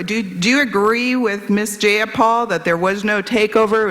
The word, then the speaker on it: Jayapal: Jayapal that there was no takeover? It was just Jayapal. peaceful? If you're going to say my name, please say it right. It's Jayapal.